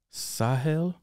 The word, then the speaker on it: Sahel: east how do you say your name again sahil sahel yeah you got to put the hat in